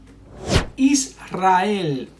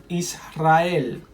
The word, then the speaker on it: Israel: Israel, Israel. Alrededor, alrededor. So you see, after these three consonants, L, N, S, we pronounce it strong R.